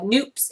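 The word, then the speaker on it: nupps: I did not realize how many of these stitch patterns have noops in them. You may have seen them as nups, N-U-P-P-S, but they're pronounced noops.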